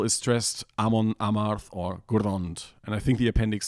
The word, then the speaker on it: Grond: And if there are less than three syllables overall, then it's always the first syllable is stressed, Amon, Amarth, or Gurrond.